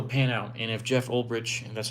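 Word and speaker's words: Ulbrich: It's just about if it'll pan out and if Jeff Olrich, and that's how you say his name, uh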